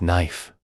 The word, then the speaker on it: knife: Words like knife, where the K is silent, or kernel, which is pronounced differently from how it looks, can confuse learners.